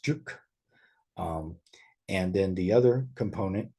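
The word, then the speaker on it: 竹: It means bamboo, and it's pronounced juk.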